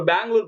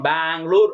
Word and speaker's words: பெங்களூரு: Actually அவங்க இப்ப பெங்களூர் பாத்தீங்கன்னு வச்சுக்கோங்க. பெங்களூர் அப்படின்றத பெங்களூரு. அவங்க கன்னட மொழியில அதை எப்படி உச்சரிப்பாங்களோ அதுக்கு தகுந்த மாதிரி மாத்திருக்காங்க. நியாயப்படி அது சரிங்க.